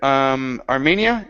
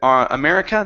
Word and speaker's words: Armenia: Next is the word Armenia. Instead of America, this is Armenia.